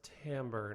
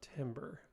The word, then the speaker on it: timbre: Yes, that is pronounced timbre, not timber. I know, it's annoying.